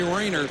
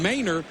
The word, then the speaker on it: Rayner: the pittsburgh 48 Rayner and Rayner you better believe has been looking for Bennis who mispronounced his name earlier in the week called him Manor and Rayner said